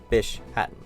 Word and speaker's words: Bishaten: or uh bis Hatton I'm pretty sure the correct pronunciation is Bish Hatton fish Hatton this is